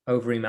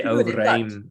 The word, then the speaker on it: Overeem: Always bugs me when people say Rozenstruik, a bit of Dutch pronunciation for you there. I should say Overeem as well.